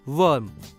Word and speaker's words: worm: ओ की दूसरी आवाज होती है अ, इसलिए WORM का उच्चारण होगा वर्म।